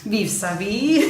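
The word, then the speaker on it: Vivre sa vie: Our first Godard was Her Life to Live, which the French pronunciation is... Vive sa vie.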